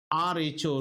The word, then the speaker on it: rho: This is spelled as RHO, rho, the Greek letter rho.